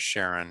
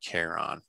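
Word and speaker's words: Charon: um for the moon even though technically is incorrect in greek it should be closer to a quest sound than a sha so just to put that out that the correct way to say it is sharon not cairon caron is about half the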